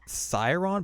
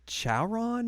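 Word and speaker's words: CYaRon!: Aqua is yeah so this looks like syron but I think it's like chaon maybe it's really weird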